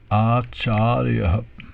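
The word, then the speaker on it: आचार्य: Acharya. So long A in the beginning, long A in the middle, and a short A in the end there.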